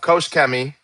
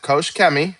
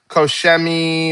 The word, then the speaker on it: Koch-Chemie: I'm going to give a brief overview of Kosh Kemi and the history of Koschi. And that's how you pronounce it. Kosh Kemi, not Kosmi or Kos Kem.